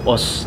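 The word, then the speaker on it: OOO: Ya, ada juga itu OS namanya. OS. Kamen Rider OS. O, tapi bacanya OS.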